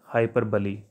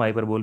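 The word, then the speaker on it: hyperbole: जी दोस्तों, नेक्स्ट है हाइपरबली। जी दोस्तों, हम हाइपरबोल भी इसे बोलते हैं, but correct pronunciation is हाइपरबली, याद रखिएगा।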